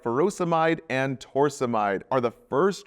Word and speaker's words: furosemide: Potassium wasting ends in "ide, like furosemide or hydrochlorothiazide. Both rhyme with dried.